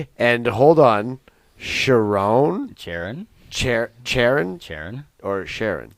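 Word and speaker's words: Charron: okay so you don't even know how it's pronounced well Sharon that's Sharon yeah yeah anyways you said you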